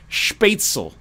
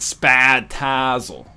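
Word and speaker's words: Spätzle: eraone NL Jesus Christ it's pronounced spatel not spatzle all right fair enough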